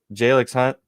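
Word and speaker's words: Jalyx Hunt: Jalix Hunt.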